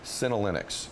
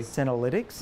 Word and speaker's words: senolytics: so I want to make sure I pronounce it right calenic am I saying that correctly senolytics yes yeah what is it well